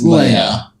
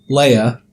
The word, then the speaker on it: Leia: It's Leia. They pronounce it...